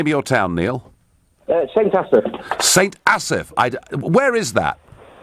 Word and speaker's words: St Asaph: How do I pronounce the name of your town, Neil? St Asaph.